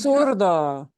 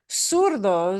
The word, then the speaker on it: zurdo: And I think does he pronounce it zurdo? Because he's from the south. So I think he does say it as zurdo. In the south of Spain, they would say zurdo.